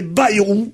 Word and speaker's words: Bayrou: Je ne suis pas un paysan du Béarn, et je vois pas pourquoi je dirais Bayrou, quand ça s'écrit A-Y-R-O-U.